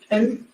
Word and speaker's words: McCandless: McCandless.